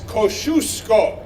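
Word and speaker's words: Kosciuszko: whisk or not everything the Polish correct way to say the word is Kosciusko so repeat after me because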